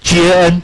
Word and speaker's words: GAN: 网络时，我们会把它念成 GAN，免得到时候外面老师会觉得为什么我这堂课一直在骂脏话。